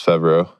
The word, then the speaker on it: Favreau: No, it's Favreau.